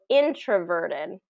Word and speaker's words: introverted: there's actually kind of two two syllables that are stress the first one is getting the primary stress the third is getting the um secondary stress so introverted introverted introverted introverted exactly